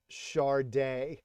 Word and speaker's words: Sade: when this came out they phonetically spelled charde and I don't know if